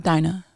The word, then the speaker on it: Dinah: What is the genuine way that it should be pronounced? Dinah.